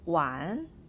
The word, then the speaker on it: 玩: in for one is w-a-n with the second tone above vowel a it's pronounced as one one another meaning of